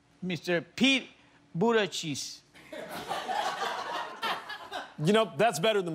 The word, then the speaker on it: Buttigieg: Pete Buttigieg.